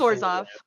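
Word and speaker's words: Orzhov: Hey, it's Orzoff. Yeah. Yeah, it's Orzov. I meant I meant Yeah, okay. Apologies. I pronounced that wrong.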